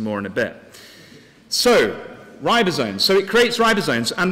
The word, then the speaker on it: ribosomes: it actually makes and I'm going to probably pronounce this wrong so forgive migrants ribs ribbo Sinise which you can see are down here how do you how do you say it ribosomes thank you for your help you might need